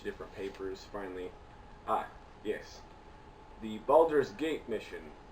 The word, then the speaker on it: Baldur's: See, I was wondering how to pronounce that. I got the gate part, but the other word was like. Baldur's.